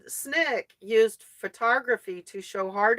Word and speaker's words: SNCC: s the student non-violent Coordinating Committee pronounce Nick Essen Snick used photography to show